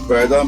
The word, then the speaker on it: Paida: It is written Paida means birth and is pronounced Paira, which means what you call it, feet.